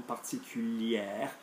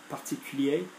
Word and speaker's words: particulier: particular, will say en particulière. Okay, remember, the masculine R doesn't get pronounced if there's no E after it. So, le premier, the first, familier, particulier.